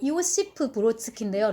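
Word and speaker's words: Иосиф Бродский: 다른 시인들은 잘 모르고 이오시프 브로드스키인데요. 러시아식 발음으로는 이 사람도 이제 노벨상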